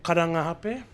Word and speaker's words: Karangahape: Oh, is that the correct pronunciation? Ahape. Karanga ahape.